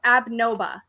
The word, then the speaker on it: Abnoba: It literally tells you Abnoba. That's how you pronounce that.